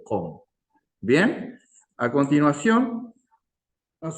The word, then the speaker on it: Qom: lengua con lo básico, que no se dice QOM, se dice COM.